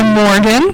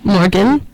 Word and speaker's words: Morgxn: Then you heard Home by Morgan, which is spelled Morgxn, just to shake it up a little bit.